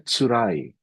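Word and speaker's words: 辛い: Yang Cina dulu yang sebelah kiri ini ee artinya bacanya tsurai. yang di sebelah kanan itu bacanya sawai.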